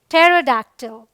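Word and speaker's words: pterodactyl: अब यहाँ देखिए PT है, इसे हम पढ़ते क्या है, टेरोडैक्टिल। ऑल राइट, रूल नंबर 3, कुछ वर्ड्स में P साइलेंट होता है जो आपको याद कर लेना चाहिए, जैसे ये है कू।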